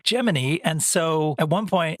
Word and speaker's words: Gemini: They were all into saying Jiminy and so at one point NASA had to come out and make a press statement to say Jiminy is the official pronunciation of the Gemini program.